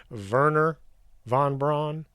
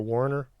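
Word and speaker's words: Wernher von Braun: but known as wagerer the germans pronounce their w as a v and the v is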